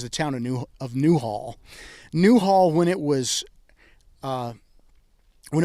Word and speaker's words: Newhall: Hollywood tours calm now new Hollywood is not new Hollywood it's actually Newhall any WH ALL new Hollywood the reason